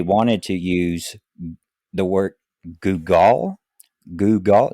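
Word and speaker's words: googol: intended name they wanted to use the word googal googal g o o g o l it's a number equal to one with 100 zeros pronounced Google okay well it does not look like Google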